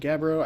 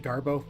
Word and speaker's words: gabbro: Found Gabbro. I keep wanting to pronounce it Garbo.